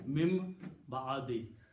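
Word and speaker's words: مِن بَعْدِ: Actually, the word is min and ba'd, but noon and ba come together, so noon has to pronounce mim. Mim ba'di.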